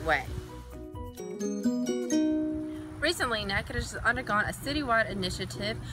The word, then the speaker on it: Natchitoches: It's Natchitoches. Now say it with me, Natchitoches.